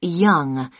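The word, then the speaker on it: Yonge: now can i have your name yes it's young young young that's spelled y o n g e that's young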